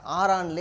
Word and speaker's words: காரான்: ஆனால் அங்கே போனவங்க என்ன செஞ்சீங்க, ஆரான்லேயே அல்லது காரான்ங்கிற இடத்துல, ஆரான் அல்லது காரான்னு அதை வந்து தமிழில் வந்து காரான் இருக்கும், அல்லது சில இடத்துல ஆரான் எழுதியிருக்கும். சரியான உச்சரிப்பாக காரான்.